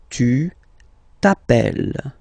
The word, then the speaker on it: appelles: Okay, remember, final S not pronounced. Tu t'appelles.